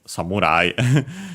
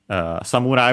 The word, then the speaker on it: samurai: Technically, we have samurai, and yeah, of course, it's samurai. It's used also in English from Japanese, which, by the way, is unaccented.